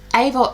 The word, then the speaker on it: Eva: we don't have eva aval eva it's about eva but it's pronounced ava so i'm going to